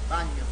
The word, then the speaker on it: bagno: Bagno. Oh, it's the same as in Spanish, baño.